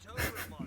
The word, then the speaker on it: Tobromancer: Tobromancer. Mr. Tobromancer.